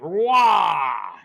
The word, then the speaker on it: Roy: Roy.